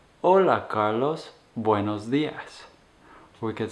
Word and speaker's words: hola: we say hola and making sure that that is a silent h na hola hola and then the name